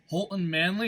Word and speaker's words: Holton Manly: I'm here joined today by Holton Manley. Is that how it's pronounced?